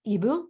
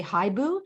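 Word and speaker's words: hibou: like the word for owl in French which is EBU but it's spelled h-i-b-o-u um but we thought people would say hi boo and then we thought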